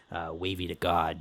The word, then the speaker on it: Wavy Da Ghawd: It's WAVYDA, then GHAWD, Wavy da Ghawd.